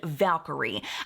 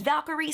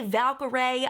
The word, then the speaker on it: Valkyrie: it a gamer named Valkyrie. I've heard her say her name as Valkyrie. Some people say Valkyrie.